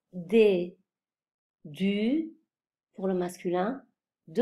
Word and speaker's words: des: On ne prononce pas le E final, le S final, on prononce des.